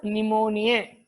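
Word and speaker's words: pneumonia: न्यूमोनिया यह अ को भी silent P N-you M ओ एन आई 10 टॉप को कस निमोनिया आदि लोगों ने संबोधित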